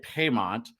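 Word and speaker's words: Paiement: name is spell drong so it's actually spelled how you say it right Pont but it should be spelled pay m n t so there you go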